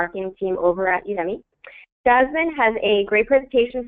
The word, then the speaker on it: Udemy: And fun fact, in case you're wondering how to pronounce the name, Udemy actually comes from Academy of U.